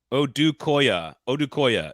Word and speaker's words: Odukoya: Odukoya is how you pronounce it, apparently, according to Easton. I appreciate the phonetics. I will never remember it, so that was a wasted data. Odukoya. Odukoya.